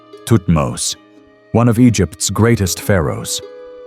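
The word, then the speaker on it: Thutmose: Tutmos.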